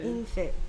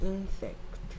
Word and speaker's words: insect: 그래서 얘가 in 됐고요. 얘가 s 하고 에 하고 그래서 sec. 네, 그 그 다음에 얘가 그래 다 합쳐서 인섹트 인섹트 됐습니까?